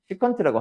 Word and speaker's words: 시컨트: 그 발음 조심하세요. 시컨트라고 하세요.